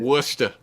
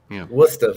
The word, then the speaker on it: Worcester: what's that worcester yeah what's the very good worcester worcester very good that's classic leicester yeah leicester i